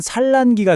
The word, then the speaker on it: 산란기: 글자는 산란기인데 발음은 산란기가 되죠. 받침 니은이 뒤에 오는 리을을 만나니까 자기도 그 부드러운 리을 소리를 따라서 스르륵 바뀌어버리는 현상이에요.